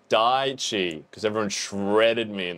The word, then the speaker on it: Daichi: Hey, look, I know how to pronounce this now and I'm not gonna try and pronounce it. It's Daichi, because everyone shredded me in the comments.